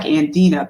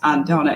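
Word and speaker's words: Andna: the reasons okay my my name is spelled a n d n a looks like andena but it's pronounced andona and I'm going back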